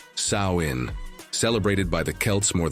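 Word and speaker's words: Samhain: As you are learning, it all began with the festival of Samhine, pronounced Sain, celebrated by the Kelts more than 2,000 years ago.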